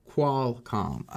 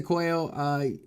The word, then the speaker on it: Qualcomm: Qualcomm, pronounced Qualcomm. Yeah, cause I know some people say quail.